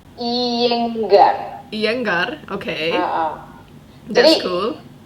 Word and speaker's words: Iyengar: Gimana kabar Ayangga Master? Oh, maksudnya Mr. Iyengar. Iya, Iyenggar ya. Gimana sih bacanya? Iyengar.